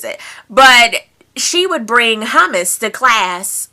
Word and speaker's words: hummus: Jason D, guys, says, how do you pronounce hummus and praline? I say it hummus and praline, but a lot of people say hummus and praline.